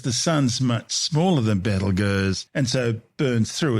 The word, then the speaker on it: Betelgeuse: I've been calling it battle G it's more commonly these days referred to Simply as Beetle Juice don't say the name